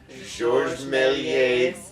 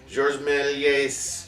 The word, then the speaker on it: Georges Méliès: Georges Méliès Devil Double Feature.